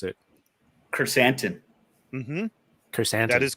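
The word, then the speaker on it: Krrsantan: pronounce it? Chrysanthemum. Mm-hmm. Chrysanthemum.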